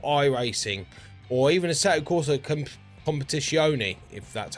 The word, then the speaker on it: Assetto Corsa Competizione: So, my main culprit and where I hear from people how they get burnt out is games like iRacing or even Assetto Corsa Competizione, if that's how you say it.